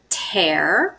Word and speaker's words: tear: it has a tear this is pronounced tear so like when you tear like a piece of paper ok it's a countable